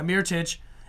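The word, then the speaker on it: Mirotić: that's believe how you say his name yeah mere touch and a first-round pick who Mira chasers is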